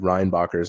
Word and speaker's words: Reinbacher: That is the way his name is supposed to be pronounced, just like David Reinbacher's name is supposed to be David Reinbacher.